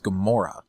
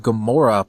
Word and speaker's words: Gamora: not the same but it's not spelled the same but pronounced the same and uh the the